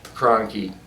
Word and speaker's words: Kroenke: You know, these people that had these massive amounts of money, like Stan Kroenke, which rhymes with donkey, and that is an ass, and he's an ass too, right?